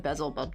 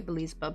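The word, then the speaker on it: Beelzebub: was it Biz buub I probably been saying it wrong I said bezel buub didn't I oh Biz bub but like it written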